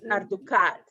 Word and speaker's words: Arducat: Arducat. Yeah, it goes on the last one.